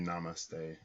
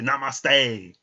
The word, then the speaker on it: namaste: He was like, they say namaste, like it's namaste, it's not namaste.